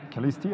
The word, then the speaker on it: Calisti: Calisti, absolutely.